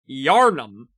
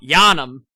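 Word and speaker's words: Yharnam: in and said, "Hey, why do you pronounce Yarnum really quickly?" Cuz the city in Bloodborne is Yarnham, not Yanomam.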